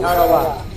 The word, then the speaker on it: Tarawa: to the tiny island in the mid-Pacific called Tarawa. That pronunciation, incidentally, is from the National Geographic Society. That island will never be important economically. It is no rich source of raw material. But the name of Tarawa has been written indelibly into American memory in